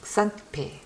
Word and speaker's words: Xantippe: 이거는 Xantippe 이 정도. Y wie Y, Z wie Zacharias. 이렇게 하고요. 아마 제 발음이 더 듣기 쉬울 거예요.